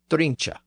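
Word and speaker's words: drunche: Also, note that the word appears here as drincha, D-R-U-N-C-H-E. So it has an E at the end, pronounced drincha.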